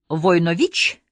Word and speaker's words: Войнович: на меня и спросил с ударением на последнем слоге войнович я удивился что он